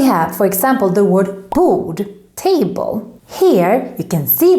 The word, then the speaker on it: bord: Bord, karta, barn, farlig.